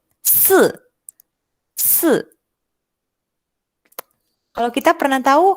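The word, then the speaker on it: 四: Huruf 4 di dalam bahasa Mandarin kita akan menyebut dengan kata se. Dengan nada turun.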